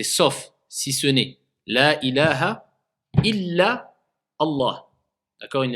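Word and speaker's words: إلى: Tu te diriges, adhabu ila al-masjid, je vais vers la mosquée. Donc illa et ila, ça a deux choses complètement différentes. Donc quand il y a une shidda, il faut prononcer la shidda.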